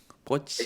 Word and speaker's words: Brötchen: O sea, sabes que vas a pronunciar así y ya estás trabajando con los labios Mm. para que lleguen al lugar Brötchen. Brötchen.